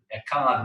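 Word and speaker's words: אחד: written really large, because they wanted to make sure that you don't pronounce that last word echad wrong, because with a resh it means completely different word.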